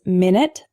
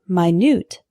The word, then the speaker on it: minute: of lead lead lead our next one is minute and minut a minute is a period of time 60 seconds for example can I call you back in 10 minutes the word minut is spelled the same way but it's an adjective meaning extremely small for example this isn't an exact replica there are some minut differences minute minut our next hetero name is